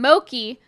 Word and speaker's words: Mochi: there it's confusing because it's spelled like mochi like the japanese ice cream dessert but that's not how you pronounce it but that's not how